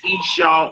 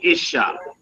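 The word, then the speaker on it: אשה: Dealing with the woman, some say Isha or some say Isha. It just depends, but it's spelled a left, shin, and hay.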